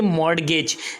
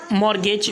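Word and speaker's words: mortgage: तो इसे हम कहेंगे मॉर्टगेज यहां पर जो है तो मॉर्गेज मतलब 30 साइलेंट है इसके बाद कागज नेक्स्ट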